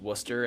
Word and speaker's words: Worcester: out to uh I think they pronounce it Worcester. It's pron it's like looks like Warchester. Worcester. Yeah. Yeah. But they pronounce it Worcester.